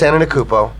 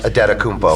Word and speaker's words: Antetokounmpo: This year is Stakostas Antetokounmpo, which I still believe is pronounced Adetokounmpo.